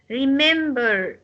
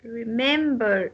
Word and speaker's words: remember: can have some exceptions look at the word remember remember is a verb and it's consists of three syllables but the the second syllable will take the stress remember remember me me will take